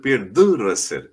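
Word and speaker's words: Pierre de Ronsard: বলি দ্য রসের, পিয়ের দ্য রসের, আসলে পিয়ের দ্য রসের এরকম হয় উচ্চারণটা।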